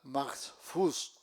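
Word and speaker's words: mahfuz: Otra palabra al maxfus a lion m a h f u z adhfud coram.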